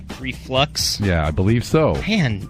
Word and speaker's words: reflux: It's a mispronunciation. My bad, Fleming. Can we still hang out? No. Drew said acid reflex. Reflux?